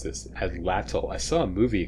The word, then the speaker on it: atlatl: Frontier the atlatl I finally learned how to pronounce this atlatl I saw a movie a couple weeks ago